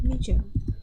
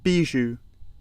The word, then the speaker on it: bijou: Sementara kalau yang kemarin kalau nemuin katanya adalah bijo. What is bijo? Kita coba dengar seperti apa kan dibacanya. Bijou. Oh, biju, bacanya biju.